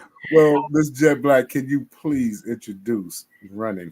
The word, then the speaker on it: Gette Blaque: here so ma'am Miss jet black man I want y'all to make sure that y'all pronounce her name correctly that's right you know what I'm saying jet black now get back not get black yeah right that's right